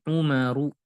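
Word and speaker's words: عمر: Kalau tidak memakai waw, ini umaru, mamnu minas sorof. Kalau ini amrun, amr, amr, amrun.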